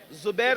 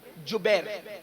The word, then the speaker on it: جبیر: پر 50 صحابہ کو عبداللہ ابن زبیر نہیں بلکہ جبیر، جیم سے جبیر، تھوڑا سا آج کل